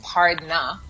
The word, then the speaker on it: pardna: So you hear it sounds like Pardna, P-A-R-D-N-A.